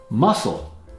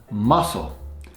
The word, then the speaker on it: muscle: Muscle, body tissue composed of cells and fibers. Muscle, often mispronounced as muscle, but it's muscle, and it's a homophone with the seafood shellfish mussel.